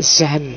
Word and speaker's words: Jean: ya mocone agak hati-hati tulisannya Jean cuma Bacanya apa kayak zan zan ya Zan bukan zong ya zong jadi semacam zan zan BRI A jadi Zang